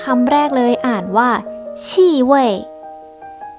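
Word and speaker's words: 气味: ได้ 2 คำ คำ แรก เลย อ่าน ว่า ที่ เว้ย ที่ เว้ย แปล ว่า กลิ่น ค่ะ ส่วน อีก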